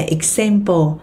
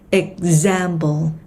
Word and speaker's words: example: Không đọc là example mà nó sẽ là example, example, example.